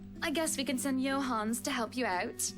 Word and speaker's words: Johannes: guess we can send johans to help you out Johannes is that how you say it in the English johans I mean in Swedish you uh pronounce the e as well Johannes Johannes I would yeah